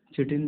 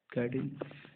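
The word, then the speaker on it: chitin: अब काइटिन जो है, चिटिन भी बोलता है कोई, बट I pronunciate it काइटिन।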